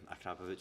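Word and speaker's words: Akrapovič: Now, how do we pronounce this? Akrapovic. Akrapovic. Yeah, Akrapovic.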